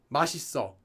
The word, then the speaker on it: 맛있어: Yes, that is the normal way to pronounce 맛있어. You could say 맛있어, separate it, but no one would do that. 맛있어. Babies would say 맛있어, because they can't say the S sound.